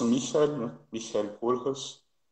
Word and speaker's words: Michael: É americanizar o negócio, falar Michael aham, Kohlhaas, né? Michael Kohlhaas, aham. do Heinrich von Kleist, não é isso? Isso aí. A pronúncia alemã é Michael, né?